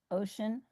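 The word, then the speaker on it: OCEN: Ocean, which is the Esalen pronunciation of the acronym for Ohlone, Costanoa, and Esalen Nation, respect Mother Earth.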